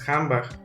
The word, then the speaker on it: handbag: case of hamba that the word is written handbag but is pronounced hambach is the same case